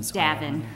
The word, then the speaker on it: Devine: Davin. Davin, thank you. Yes, like there's no E on the end. There is no E. There is an E, but you pronounce it like there isn't.